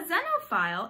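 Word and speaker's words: xenophile: again it's start with starts with an X but it's pronounced with a Z sound a dino file is a person who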